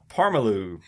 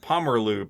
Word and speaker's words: Pomerleau: Dean Parmalu. P-O-R-M-E... Oh, he's world famous. No, I'm sorry, I said it wrong. Pomerleau. P-O-M-E-R-L-E-A-U.